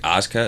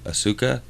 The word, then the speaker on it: Asuka: Just like Asuka, it's spelled Asuki or Asuka, but it's Asuka.